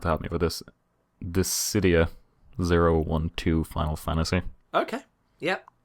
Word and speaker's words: Dissidia: Dissidia 012 Final Fantasy. Okay. Yep. Okay, did I pronounce that right? Dissidia, yep.